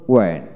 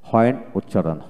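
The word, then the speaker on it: when: লক্ষ্য করেন এখানে হোয়েন, হোয়েন এখানে ব্রিটিশ উচ্চারণটা হলো ওয়েন, ওয়েন WEN ওয়েন, আমেরিকানে হোয়েন উচ্চারিত হয়।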